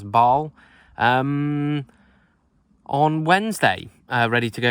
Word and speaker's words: Basel: I head down to Basel, which apparently you pronounce Basel, on Wednesday, ready to go into Switzerland.